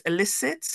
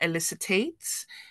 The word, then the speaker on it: elicit: You mispronounce some words, so it's elicit, not elicitate. Is buzzwords, not booze words.